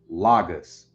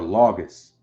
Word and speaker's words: logos: can also be pronounced lagus or logos like a log when you log something logos right think longest